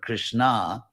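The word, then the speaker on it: Kṛṣṇā: ka tata krishna and krishna with a long a at the end which makes it a feminine word krishna and their fourth draupadi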